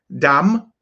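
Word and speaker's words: דם: Now, words that come from the da sound are dam, which means blood, and dag, which means fish. It's not daga and it's not dama. It's dam and it's dag, which is why we don't have yasharala.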